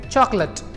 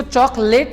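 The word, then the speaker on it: chocolate: चॉकलेट, उसको चॉकलेट नहीं बोलते। जो ल होता है वहां पे उसमें कोई भी मात्रा नहीं होती है इंग्लिश के अकॉर्डिंगली। सो जो सी के बाद में जो ओ आ रहा है वो भी कोई साउंड प्रोड्यूस नहीं कर रहा है, प्लस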